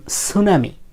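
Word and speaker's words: tsunami: উচ্চারণ হয় না যেমন সুনামি সুনামির ক্ষেত্রে টি এর উচ্চারণ হয় না সু থেকে শুরু হয়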